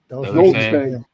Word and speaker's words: dulce: Dulce doulsece. Yeah, it's uh I don't know. I've heard it pronounced so many different ways now. That's all means got care. In Spanish it would be dulce.